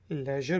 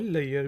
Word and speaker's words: leisure: LEISURE को हम लेजर भी प्रोनाउंस कर सकते हैं और लेयर भी।